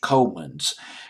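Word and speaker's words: Kooymans: George George coin ones George Cummins I believe this the Danish pronunciation of his last night but I'll just call him George Coleman's they I believe that's the English pronunciation thirteen years old when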